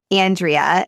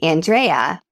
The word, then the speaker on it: Andrea: up in Iowa and my name is Andrea. And I always joke that the pronunciation is get into your hyperasal Midwestern voice. But now that I live in San Diego, people say Andrea and I respond to that and I I like it too.